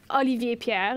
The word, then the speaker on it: Olivier Pierre: This guy, Olivier Pierre is how you say it in French.